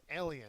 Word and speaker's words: alien: The first syllable has the accent mark.